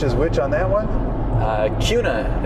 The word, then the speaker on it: Kuna: Kuna is the proper way to say it. Like with a Q?